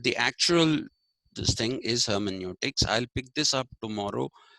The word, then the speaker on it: hermeneutics: by the germans and germans pronounce eu as oi so hermeneutics is what they say but the actual this thing is hermeneutics i'll pick this up